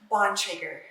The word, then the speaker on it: Bontrager: Bonger.